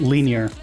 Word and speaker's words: Linjär: Yes, it's pronounced linear because the J has the sound of I.